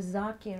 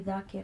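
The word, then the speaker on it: ذاكر: We call somebody who sits on the minbar a zakir or zakira. It's actually dhakir or dhakira.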